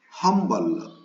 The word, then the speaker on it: humble: Already once I have told you when I was telling about humble. Humble, H is there in the beginning, but it is pronounced.